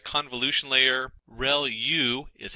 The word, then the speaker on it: ReLU: ReLU is how that is pronounced.